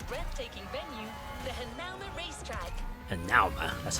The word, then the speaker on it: Hanauma: Hanauma, that's how you pronounce it.